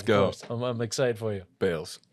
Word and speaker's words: Baals: mind, entrepreneur, visionary, Pat Baals, the founder of Chuga. Thank you, bro. Yeah, bro. Thank you. Yeah, Let's go. I'm excited for you. Baals. Yes, Baals. Oh, shit, my bad, bro.